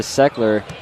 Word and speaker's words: Seckler: three and it's good I've realized I've been pronouncing his name wrong half this time so I do apologize for that it is Elijah seckler I've been putting an extra uh H in front don't worry JJ was